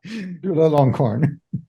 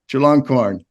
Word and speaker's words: Chulalongkorn: Maybe you can give a better pronunciation of that. Chulalongkorn. Chulalongkorn.